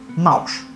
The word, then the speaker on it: mau: Na língua egípcia era comum que o nome dos animais fizesse alguma referência ao som que eles produziam. Leão se pronunciava ru, burro se pronunciava a-o e gato se pronunciava mau.